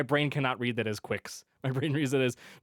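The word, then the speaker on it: GQuuuuuuX: very excited for this is that actually how you pronounce it Quicks yeah quick okay yeah yeah because they they say it multiple times in the movie so okay but yeah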